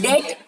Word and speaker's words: debt: consequently fell into a debt trap. A debt trap. इसको DEBT डेप्ट नहीं बोलना है, B is silent.